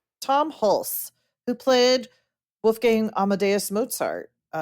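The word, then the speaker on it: Hulce: Hulse. Tom Hulse, who played Wolfgang Amadeus Mozart.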